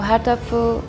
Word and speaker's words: Erdöpfel: So Erdöpfel, we say like, I think it's like a hidden H in it.